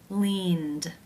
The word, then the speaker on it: leaned: Leaned, leaned. How do you pronounce this word?